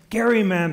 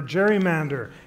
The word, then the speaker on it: gerrymander: Massachusetts politician who created the gerrymander or gerrymander and thanks to our